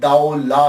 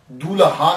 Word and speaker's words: Daulah: ये लफ्ज प्रोनाउंसिएशन दाऊ ला है। दूल्हा नहीं है। ये सबसे पहले याद रख लीजिएगा कि ये दाऊ ला है। दाल ज़बर वा साकिन दाऊ और लाम अलिफ ला है।